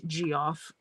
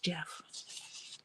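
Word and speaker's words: Geoff: correct pronunciate it's the correct spelling of Jeff not g off not Goff just Jeff I did meet a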